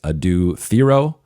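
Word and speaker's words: Adou Thiero: They draft defensive ace Adu Theoro. And again, that is the correct way to pronounce the name as we were told by the Lakers.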